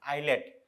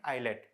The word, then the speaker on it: islet: island is known as islet s is silent okay it is known as islet so where is this